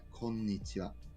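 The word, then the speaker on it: こんにちは: You say, konnichiwa, konbanwa. The wa in both of those is this particle here. Huh. You notice you spell it konnichiha, but you say wa.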